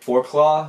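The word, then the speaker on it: Forclaz: decent quality outdoor gear four claw which is just spelled like this it's not gonna Focus again they have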